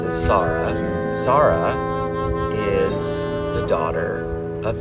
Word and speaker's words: Sar'h: The next song I pronounce as Sar'h.